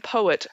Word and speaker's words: Poe: This bird is often associated with an American poet whose last name rhymes with toe.